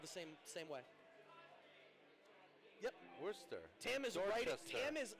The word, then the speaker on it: Worcester: That's pronounced Worcester. One more time. That's pronounced Worcester. Worcester. Let me spell it again. Worcester. That's Worcester.